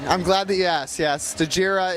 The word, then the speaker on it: Stagira: glad that yes yes stagira is the uh the birthplace of Aristotle also pronounced sagira so uh you know